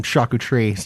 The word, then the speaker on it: charcuterie: That's how you say it. Charcuterie.